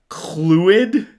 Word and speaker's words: Clwyd: with his owner Eliza corrects me it's pronounced clid clwyd is clid yeah I'm going to